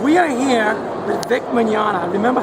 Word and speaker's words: Mignogna: We are here with Vic Mignogna.